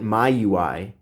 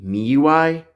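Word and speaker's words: MIUI: way quick side note I don't understand why people call it my UI because it's spelled mi UI and the company has pronounced Xiaomi so wouldn't it be me UI let me know if I'm wrong about that in the comments now I'm not totally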